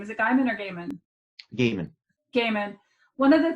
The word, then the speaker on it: Gaiman: One of the things Neil Gaiman, who you were talking about earlier, and I'm always afraid I'm mispronouncing his name. Is it Gaiman or Gaiman?